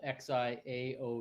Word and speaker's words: XIAO: that good but the seed studio board called x i a o e u or whatever is actually the chinese for small it's xiao and it just means